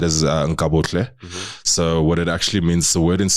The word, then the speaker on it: Nkabohle: It's so like how I said is Nkabohle.